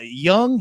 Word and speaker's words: Jung: Volkanovski, Young Jung. Am I pronouncing that right?